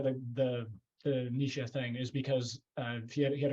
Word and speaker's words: Nietzsche: But like people, Nietzsche is the right one.